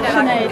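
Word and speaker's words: Sinéad: You look like Sinead O'Connor. Is that how you pronounce it? Sinead.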